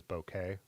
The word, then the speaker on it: bokeh: So, the lens is the uh yeah, has really good really good bouquet. I guess it's not supposed to be pronounced bokeh. I've learned lately that it actually is bokeh. It's a Japanese word.